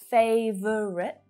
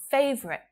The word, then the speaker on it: favorite: melbourne last year favorite so instead of favorite favorite it's easier it's faster to use two syllables so why would you